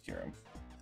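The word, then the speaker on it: Kyurem: third po dragon Pokemon kierum I think it's kierum I hope it's kierum I always mispronounce it yeah it is came into existence in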